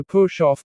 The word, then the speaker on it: push off: Native speakers usually stress the word off.